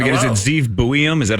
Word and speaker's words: Zeev Buium: I don't know how to pronounce the guy's name again. Hello. Is it Zeev Buium?